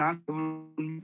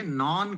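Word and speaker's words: non: नॉन की आदत डालिए। नॉन government organisation. एक बार और ट्राई करिए। We should support both government and नॉन government organisation. Perfect. और इसको ध्यान भी रखना है कि नान नहीं कहना है आपके। नान रोटी होता है।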